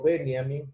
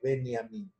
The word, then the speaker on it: Benjamin: que agradecerle a Adolfo Benjamin qui me mand un mensaje pidiéndome que no lo pronunciara americanad Benjamin como todos de y que hiciéramos lo posible pronunciarlo como se pronuncia en alemán que es beniamin e cuando nos metemos